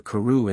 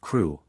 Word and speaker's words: Crewe: difference in the name Madame Pascal pronounced it as if it were Karu instead of KW but that might be merely a matter of pronunciation the circumstances were curiously